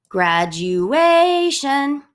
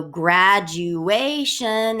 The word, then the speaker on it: graduation: And then graduation, You definitely emphasize the A. It is possible that this is an trochaic word that would go graduation.